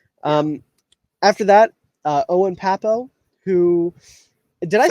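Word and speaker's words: Pappoe: After that, Owen Papo, who did I say his last name right?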